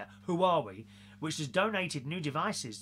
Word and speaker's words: Huawei: That's how you say it, Huawei, which has donated new devices to the rehoming